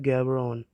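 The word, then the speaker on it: Gaborone: So guys Botswana की जो capital है वो है गैरबन गैबरॉन, इसे प्रोनाउंस किया जाता है गैबरॉन।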